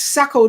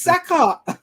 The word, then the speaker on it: Saka: Like, how is Sacco training and his name is Saka?